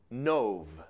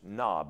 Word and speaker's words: Nob: then David came to nove that would be pronounced knob is how it reads in English but to a himc